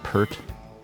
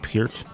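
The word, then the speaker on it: Peart: A lot of people try to pronounce his name per I've been schooled on this before so I'm going to say it right. It's Neil Pier.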